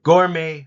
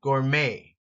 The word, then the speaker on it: gourmet: appetizing condiment Bland and gourmet food notice here the t is silent Gourmet Gourmet like may I